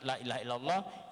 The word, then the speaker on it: Lailahaillallah: keutamaan-keutamaan di dalam kalimat Lailahaillallah jadi kita cara baca pertama Laila harus menampak kan pila setelah nyala dan harus memanjangkan lah jangan sampai dipendekkan jangan sampai dijadikan 1.lay tidak bohong tidak boleh